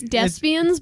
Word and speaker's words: Desbiens: It's Desbiens, but he'll answer anything. But it's like thespians.